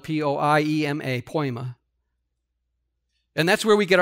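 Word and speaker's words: poiema: It's spelled P-O-I-E-M-A, poema.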